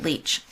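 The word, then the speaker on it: Lich: to tamara lick leach she pronounces it leech and they're based on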